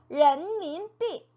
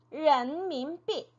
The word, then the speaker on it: 人民币: 人民币人民币 네, 人民币라고 읽었죠.